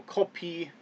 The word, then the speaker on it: 커피: And that would be ko, And this character right here is O. And then this character, excuse me, is P. And then E. So Kopi. And then this weird looking character that's kind of like a 3 is K or Ka. So in this instance, Kopi.